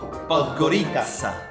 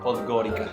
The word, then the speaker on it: Podgorica: Podgorica. Podgorica. Podgorica. Porque yo me estuve poniendo ahí en español es Podgorica. Podgorica. Podgorica. Pero incluso en español supuestamente debe decir Podgorica.